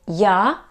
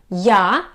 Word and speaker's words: я: and the easiest option is just to say ya plus your name ya it's i and name ya the